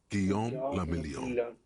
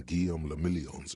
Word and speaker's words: Guillaume Lamillion: Guillaume Lamillion. Cara, nome da hora, hein? If it doesn't rhyme, you're not pronouncing it right.